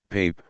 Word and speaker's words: Pape: In the meantime, however, the two heads of the Christian churches, the Pope, in French and Italian, Pape, pronounced as Pap, of Italy and the